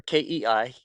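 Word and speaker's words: kei: We were the very first one in the United States of America to do so, making K trucks or KI pronounced K trucks street legal.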